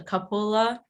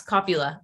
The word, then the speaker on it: cupola: The cupola. That's wrong. Copula? Yes, copula. Yeah.